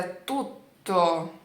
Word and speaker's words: tutto: Mesma coisa com T, por exemplo, então não é tutto, mas é tutto, tutto, tá vendo? Eu não consigo segurar o T, não dá, então a gente dá uma travada e depois continua a palavra.